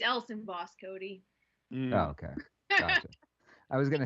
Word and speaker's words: Elsenboss: cody knowles says i thought your name was pronounced eisenboss is that a it's else in boss cody okay i was going to say i've